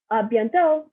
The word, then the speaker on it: à bientôt: And see you later is à bientôt. Not pronouncing the T at the end. Do you see that? It's à bientôt. You think there's a T and you think you want to say T, but don't do it.